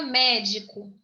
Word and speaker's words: médico: A palavra médico. Médico, tá? Vamos lá. Médico. Co, primeira sílaba. Di, segunda sílaba. Mé, terceira sílaba. Acentuada. Médico. Entendeu? Então, a terceira sílaba é a tônica.